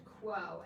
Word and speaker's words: QWO: finally approved a wonder drug called Quo, and it is spelled QWO, and it is a prescription medication, so you do need to get it through a doctor.